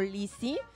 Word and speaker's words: Lisi: Yo me llamo Lizzie, que se escribe L-I-S-I.